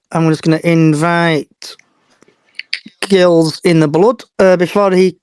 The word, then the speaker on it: Gills: One correction, it's Gills in the Blood. Sorry, it's a soft G like the football club.